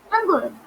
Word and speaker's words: Hangul: It all starts with knowing the Hangul Korean alphabet, or we can, I'm just pronouncing it very fast. Okay, so we can say it as Hangul, Hangul.